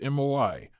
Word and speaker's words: moai: This approach is embedded in Japanese culture through the concept of moai, pronounced MOI, social support groups that form in childhood and continue throughout life.